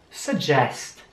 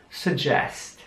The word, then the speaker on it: suggest: Man sieht zwei Gs in dem Wort und die werden beide wie J ausgesprochen. Also suggest. Und das U wird diesmal fast wie ein U ausgesprochen. Irgendwo zwischen U und A.